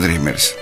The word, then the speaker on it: dreamers: así Quiénes son los dreamers déjeme y le comento Pues resulta ser que los dreamers o sea se escribe dreamers pero se pronuncia dreamers Ay qué loco bueno